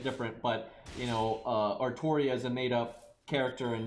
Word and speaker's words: Artoria: thing because like these the way they say it is artoria the problem is japanese generally do not understand elsinores very well and how they work in the english language so they think ultria is ortoria that's but that's what they think um because they say artoria when you hear the voice actors say it and other characters say it they always say artoria but uh they spell